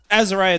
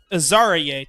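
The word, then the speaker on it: Azareye'h: about Azariah Thomas so or actually let me correct this aara Thomas I believe is his actual pronunciation um whenever we have those interviews up on the YouTube or if you've already watched them on Twitter I think he even refers to himself as that so I I feel kind of bad if call him the wrong name um or at least pronounced it wrong but talking about Thomas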